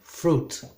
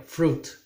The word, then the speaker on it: fruit: fruit not through it ok fruit silent letter here fruit juices and nice breads